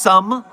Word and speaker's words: SOEM: It's pronounced some, but because it's spelled SOEM, I say SOEM.